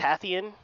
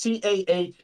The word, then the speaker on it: Tahitian: the Tathian. Is that I think it's correct? the Tahitan. Tahitian? Tahitian? It's Tahitian. That's Tahitian. Black lip oyster, my guys.